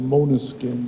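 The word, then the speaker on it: Måneskin: Right now, there's an article in the New York Times about Maneskin, although they pronounce it Moneskin, they say, how the band is so hated, yet so successful.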